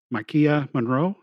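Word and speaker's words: Maika Monroe: her the stuff that's going on it's a Makia Monroe is how you say her name from she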